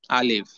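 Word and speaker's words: ألف: আলিফ অক্ষরটি উচ্চারণ করার সময় প্রথমেই আ এই শব্দটি আসছে বা এরকম উচ্চারণ আসছে, আ, আ। তো এখান থেকে উচ্চারণটা হবে শক্তভাবে, আ। উচ্চারণে ভাব যাতে এমন না হয় যে আ, আ, আলিফ, এমন না। আ, আ, আ, আ, আ। মুখ খুলে আওয়াজ করে, কি হলো? মুখ খুলে আওয়াজ করে সকলেই বলবেন আলিফ, আ, আ, আ, আলিফ,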